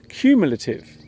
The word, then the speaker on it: cumulative: another the word is cumulative the first syllable this word sounds like the letter Q the word cumulative is